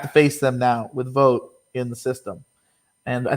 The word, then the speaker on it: Vogt: platoon with steven um i believe how you see his name is vote even though it has a g in it the g is silent um and stephen vogt